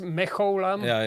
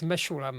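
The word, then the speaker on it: Mechoulam: mulam yeah M mulam somebody says meam but correctly it's mulam mulam yeah he is the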